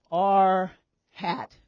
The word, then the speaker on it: R hat: we write them differently we write r with this circumflex over it and this is this is pronounced R hat we say we have